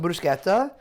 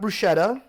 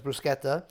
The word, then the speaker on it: bruschetta: So, first thing we're going to do is make some brusqueta. It's not bruschetta. Uh, it's the proper pronunciation is brusqueta.